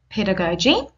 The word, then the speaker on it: pedagogy: here pedagogy I have shown you how to pronounce it pedagogy and your pedagogy is what you think and